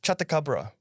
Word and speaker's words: Chatacabra: Right, like the Chatacabra, aka. That's you said it right. Oh, because you read it. Because I'm reading it. Chatacabra, aka Big Ugly Frog.